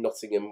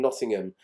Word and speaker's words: Nottingham: He sings, I'm just a poor boy from Nottingham. Now, in England, with towns that end in ham, we tend not to pronounce the H.